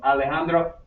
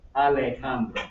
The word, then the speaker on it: Alejandro: La J suena como la H en inglés. So, Alejandro, Alejandro.